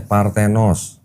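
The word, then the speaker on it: παρθένος: Ini bacanya Partenos.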